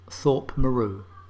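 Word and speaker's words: Thorpe Morieux: debbic well i think i can get the thorpe bit right it's the other bit that might be a bit tricky because that's pronounced thorpe meru and to be honest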